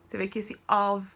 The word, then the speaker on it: of: seasons of the year of o f não tem som de u f tá aí fica com som de ovelha of ok seasons of the